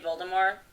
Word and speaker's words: Voldemort: just found out that the tea and Voldemort is silent mm-hmm hey I saw